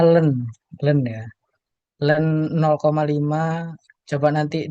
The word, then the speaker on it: ln: Itu itu bacanya len ya.